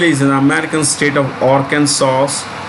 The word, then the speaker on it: Arkansas: an american state of arkansas the s is silent bentonville town arkansas then its ceo